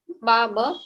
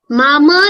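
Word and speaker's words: माम्: इट्स मामा नहीं, माम। वहां पे आपको हलंत दिख रहा है, राइट? सो जब हलंत होता है तो आपको माम करके ही उच्चारण करना है, मामा नहीं होता।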